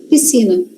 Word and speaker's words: piscina: É como se a gente não lesse o S. Piscina. É isso aqui que a gente fala, ó. Piscina. Mas tem o S lá, tem, tem que ter o S lá, professora. Tem, porque se escreve piscina com SC.